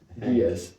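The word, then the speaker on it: Ge'ez: And the most complete version of the Book of Enoch was the Giaz or something. I don't know, something hard to pronounce. Doug, you said you know how to pronounce it. Giaz.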